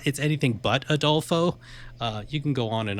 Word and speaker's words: Adolfo: Adolfo, it's a 3-syllable name.